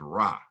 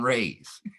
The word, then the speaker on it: Ra: we still use the term, look at the sun rays. And so since we are saying Ray still to this day, in their learned opinions, the correct pronunciation of the word is Ray, not Ra.